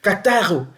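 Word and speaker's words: καθαίρω: Et le mot émondé se dit kataro. Kataro en grec. Kataro qui s'écrit k a t h a i r o en grec.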